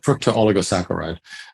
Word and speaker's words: fructooligosaccharides: Now, FOS is an acronym for a very complicated molecular, is it fructooligosaccharides, or what's the pronunciation of that? You pretty much got it, fructooligosaccharides.